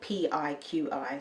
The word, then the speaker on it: PIQi: So this kefir water is by a company called PIQi, spelled P-I-Q-I, so I had to ask them how to pronounce it.